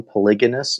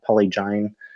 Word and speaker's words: polygamous: species by the way the pronunciation is polygon polygamous not poly Jain just so everybody knows that should you merge